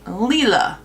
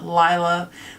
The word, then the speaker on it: Lila: on to this beauty and this is the Leela palette yes I know you've probably heard a lot of people pronounce it Lila but it is llenita de which means purple